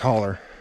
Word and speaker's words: hollow: been to west virginia a hollow is pronounced holler and a hollow is